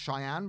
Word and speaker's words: Shianne: I think it's called pronounced Cheyenne, but instead of spelt as the American way, it's Shianne.